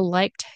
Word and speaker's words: liked: that so liked okay when it's followed or when there is a k sound it'll be pronounced as a t like T like to